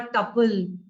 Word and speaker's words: tuple: So here I'm using a tuple everywhere. I'm not using a list. So the tuple or tuple, pronunciation Tuple, that I'm making use of is, I've just given it the name of val.